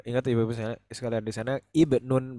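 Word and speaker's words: ابن: Mufradnya itu bacanya ibnun, jangan abnun tapi ibnun.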